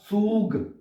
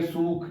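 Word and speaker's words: Zug: है सूख होता है जड को एस की वास है एस जो है वो जड की वास प्रोनाउंस होएगा और जो जड है वो एस की आवाज में प्रोनाउंस होगा तो बनेगा सूग ट्रेन को कहते हैं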